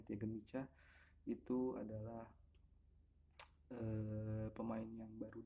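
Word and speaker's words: Teagan Micah: Ini kiper muda yang Tiagen Micah itu pronunciation-nya Tiagen Micah.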